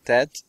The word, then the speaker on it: Tet: Tet, and you don't pronounce it as a T or a thing. You pronounce it like the Arab pronunciation.